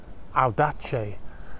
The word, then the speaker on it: Audace: The name of the boat is Audace, and that V is actually pronounced like a U.